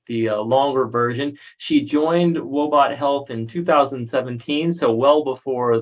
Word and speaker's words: Woebot Health: clinical officer of let me see if i pronounce this right robot health is that right athena you got it that's correct robot health which is a pioneer in the development of